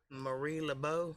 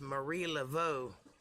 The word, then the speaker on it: Marie Laveau: you want to be marie lebeau it's marie laveau and it's spelled like